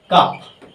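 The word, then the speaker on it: cup: তিন নাম্বারটা দেখব দেখ সির পরে ইউ থাকলে পরে ইউ থাকলে ক উচ্চারণ হবে যেমন দেখি ইউ পি একদম পরিষ্কার বিষয় কাপ এরপরে ইউ আছে তারপর আমরা আর ইউটা আ উচ্চারণ হচ্ছে কাপ তারপর আরেকটা দেখি ইউ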